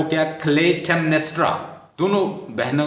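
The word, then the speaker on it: Clytemnestra: एगमेमन की वाइफ का जो नाम है वो काइंडली लिख लें, क्लेटेमनेस्ट्रा। प्रोनाउंसिएशन थोड़ा सा डिफिकल्ट हो सकता है, स्पेलिंग आप याद कर लें, आप आसानी से कर सकते हैं। CLYTEM, क्लेटेमनेस्ट्रा क्वीन है और उसके हस्बैंड का नाम है द एगमेमन।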